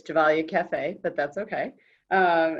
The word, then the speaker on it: Gevalia: whole world knows like quaker orbit gum and javale coffee and i probably mispronounced that but the audience could you give